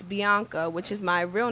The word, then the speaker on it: B.ANKHA: my name is spelled my artist name is spelled B period a and K H a all together if you say it it's Bianca which is my real